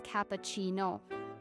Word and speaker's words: cappuccino: For instance, espresso is pronounced es-presso, not expresso. Latte is latte, and cappuccino is cappuccino.